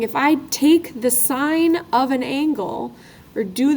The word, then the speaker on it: sine: have names they're called sign and we pronounce it sign like a stop sign and we abbreviate it